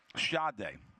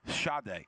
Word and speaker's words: Sade: Sade, and for anyone else that it's spelled Sade, Sade.